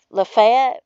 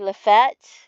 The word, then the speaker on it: Lafayette: the South, and like there's a city called Lafayette. Well, we say Lafayette, but it was named after a General Lafayette, right?